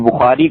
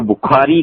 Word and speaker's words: بخاری: ایسے نہیں ہے کہ جو بخاری کو بخاری کہتے ہوں اور خا کا تلفظ صحیح نہ کر سکتے ہیں، اور وہ بھی